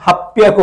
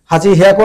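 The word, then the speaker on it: はっぴゃく: 8-এর ক্ষেত্রে ব্যতিক্রম রাখছে, এখানে হিয়াকু নাই হয়ে এখানে একটা মারু দিয়ে দিচ্ছে, মারু। এই মারু দেওয়ার কারণে হি হয়ে গেছে পি। আমরা হিরাগানা শেখার সময় শিখেছিলাম যে হির উপরে যদি মারু দেই তাহলে পি হয়ে যায়। ঠিক আছে, এর জন্য হাপ্পিয়াকু হবে, হাপ্পিয়াকু। হাঁচি হিয়াকু না বলে হাপ্পিয়াকু, এটা ব্যতিক্রম হয়েছে।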